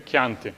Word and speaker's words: Chianti: Chianti, not Chianti, okay? Chianti. For the same reason that it's Chiesa, okay?